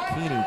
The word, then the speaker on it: Kuehne: what's Mikey's last name Mikey Keen ke key Mike we had an issue with pronunciation earlier today Mikey key so I wrote it down Mikey Keeny k u e h n e key clearly all right we are